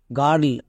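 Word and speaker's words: girl: এটা একসঙ্গে উচ্চারণ দেই আর আর তাই এটার উচ্চারণটা দাঁড়াচ্ছে বি আই আর D bird একই রকম ভাবে জি আই আর এল গার্ল কেন কারণ আই আর টা ওয়ার্ড প্যাটার্ন একই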